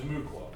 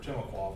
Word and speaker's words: Timucua: By the time Europeans arrived in Florida in the 1500s, the Native American culture that was here was what's called the Timucua, or Timucua, or pronounced both ways.